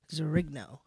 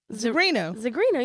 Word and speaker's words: Zigrino: Please put your hands together for Jenny Zigrino.